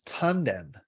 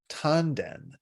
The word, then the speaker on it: tanden: Japanese the word is tanden tanden and it means it's a it's a Japanese pronunciation of the Chinese word and it's it's those